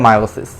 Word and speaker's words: মায়োসিস: পরবর্তীতে গ্রিক মূল শব্দ মায়ম। এর মানে হচ্ছে রাস পাওয়া। এর উপর ভিত্তি করে বানান করা হয় মায়োসিস। এখন এটি মায়োসিস হিসেবে হচ্ছে উচ্চারিত।